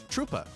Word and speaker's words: Troopa: It rhymes. Koopa. Troopa.